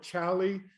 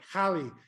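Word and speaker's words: Xali: uh some call it chali and some call it halle uh it depends whether you're a spanish or an english speaker but uh their stock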